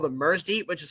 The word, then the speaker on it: MRSDY: What I have here is a microphone called the Mersdy, which is spelled MRSDY.